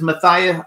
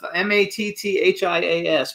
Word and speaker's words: Matthias: The first guest is Matthias, and I don't know if that's how you pronounce it, Matthias Hues.